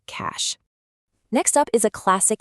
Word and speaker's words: cache: but the pronunciation is a super simple single syllable word rhyming with cash. A really common trap for non-native speakers is pronouncing it as the two-syllable cachet.